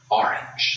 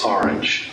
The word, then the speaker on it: orange: was very patient it's a-h-r-a-n-g orange orange not orange orange and not orange i was thinking about that not long ago it is a h r i n j orange not awnj getting the pronunciation tuned